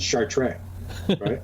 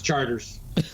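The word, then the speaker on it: Chartres: think right away the first time I pronounced that I should shower tray Hey and guys his charters exactly and I say charters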